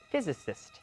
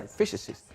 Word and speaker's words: physicist: but he's a nuclear physicist that's a tricky thing to pronounce a nuclear physicist and do you know